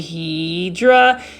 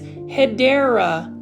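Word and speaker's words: Hedera: And you can see this is a hedra helix or um the correct way to say it is hideera helix or the English ivy.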